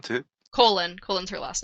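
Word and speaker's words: Kholin: of her name too colon colen's her last name right yeah yeah yeah you know like the inside of your body uh it's not spelled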